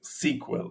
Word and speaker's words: SQL: So, you know, I always like when I write a a SQL, you know, you have to say them pronounce it SQL. s e q e l not letter by letter.